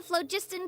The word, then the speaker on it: phlogiston: Oh, we call this a phlogiston chisleth. Good things happen if you infuse it with phlogiston. Phlogiston, that's how you pronounce that. Okay, phlogiston.